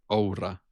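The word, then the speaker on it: Oura: Yeah, it is probably totally fine to like pronounce it in in the English way. They they would probably prefer it, but if it was pronounced in a straight finish way, it would be aura.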